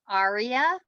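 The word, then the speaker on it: EREA: e-r-e-a is actually pronounced arya so i'm thinking of it like a-r-i-a you know like like the musical score that's just how i'm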